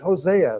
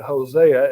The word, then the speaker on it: Hosea: really fulfilled now um it can be pronounced either way um I think perhaps uh since I'm I'm used to calling it Hosea at this point I